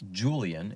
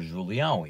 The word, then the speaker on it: Julian: But my name, Julian, is actually pronounced in German because my mother is German. So she would want me to be called Julian, which is how the Germans pronounce Julian.